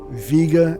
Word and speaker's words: Vega: Stars right here deneb Vega and Altair you can say Vega if you want but I believe it is officially pronounced Vega so each of these